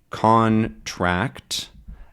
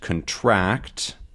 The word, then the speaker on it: contract: something that's interesting is some words can actually have two different stressing depending on how they're used right so contract and contract are spelled the same